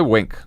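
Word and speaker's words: Winc: Well, you'd use Wink. Okay. It's spelled W-I-N-C, and they make it easy to discover great wine.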